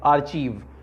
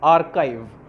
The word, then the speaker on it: archive: The answer is archive. इसका pronunciation कई बार लोग गलत करते हैं. This is like आर्चीव. इट इज़ नॉट आर्चीव, इट इज़ आर्काइव.